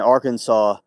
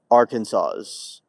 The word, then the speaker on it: Arkansas: Can and Arkansas is based on the French pronunciation of Arkansas's of the uh Quapaw people.